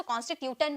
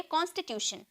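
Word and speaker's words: constitution: बहुत लोग इससे बहुत बहुत लोग इसे टन में प्रोनाउंस करते हैं क्योंकि ट का साउंड ट टी का साउंड ट में निकलता है ना तो कंस टूटन कहते हैं लेकिन ऐसी कोई बात नहीं है इसे हम प्रोनाउंस करेंगे शन में ओके हम इसे प्रोनाउंस करेंगे शन में शन में हम बोलेंगे कॉन्स्टिट्यूशन कंटी यहां पर टी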